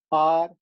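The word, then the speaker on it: hour: We don't say har, we don't say hair, we don't say honest. We say are, air, honest.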